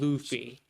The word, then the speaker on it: Luffy: And it's called Luffy.